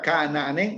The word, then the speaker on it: Ka'anaanen: Esta palabra Ka'anaanen, la verdad, felicidades, es una palabra un poco difícil de leer para principiantes porque es una vocal rearticulada y es doble.